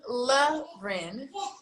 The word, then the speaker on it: Loren: supposed to have this my name is la rin that's l-o-r-e-n but pronounced l-a r-e-n and when people say